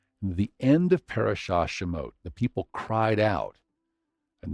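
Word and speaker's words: שם: It's pronounced Shem or perhaps Shame, and it's a primitive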